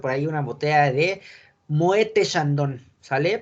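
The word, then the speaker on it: Moët & Chandon: Entonces la pronunciación es Moete, que esta sí no se pronuncia. Moët Chandon.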